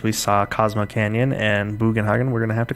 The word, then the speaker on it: Bugenhagen: I don't know how to pronounce it. Bugenhagen is how I pronounce it.